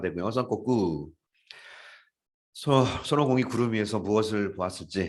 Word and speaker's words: Son Goku: 썬꼬꾸.